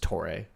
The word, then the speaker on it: TOREI: So it'd be like TOREI, but it's just TOREI. You know, if you just say it, kind of harden the R, and yeah.